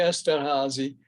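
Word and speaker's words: Esterházy: like to pronounce things correctly so i say esther hazy it wouldn't be the french pronunciation in any case esterhazy because he was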